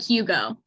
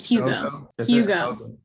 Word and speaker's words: Jugo: Jogo. It's more like Hugo, like with an H-ish. It's like Hugo.